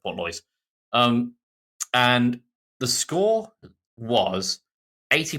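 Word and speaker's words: Portlaoise: So, there's an Irish basketball game between Limerick and Portalois. Okay. Or Port Lois. I think that's pronounced Port Lois.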